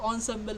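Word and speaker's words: ensemble: is emble Method or onsemble method it is pronounced as onsemble method okay so what does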